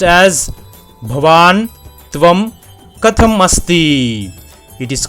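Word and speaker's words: भवान्: as a masculine gender the Sanskrit sentence is pronounced as banam it is called as banam similarly for a feminine gender it is pronounced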